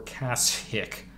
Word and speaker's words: Kashyyyk: will find the star map on Kashyyyk or Cass hick that's how it's supposed to be pronounced - trust me yeah undeveloped watch your